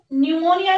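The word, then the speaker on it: pneumonia: एन से क्या बनता है? न्यूमोनिया। वैसे बच्चों न्यूमोनिया जब लिखा तो यहाँ पे पी से स्टार्ट होगी स्पेलिंग, लेकिन बोलने में क्या आता है? न्यूमोनिया। तो पी क्या है यहाँ पर? साइलेंट है।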